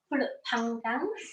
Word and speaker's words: Pulut Panggang: Pulut Panggang.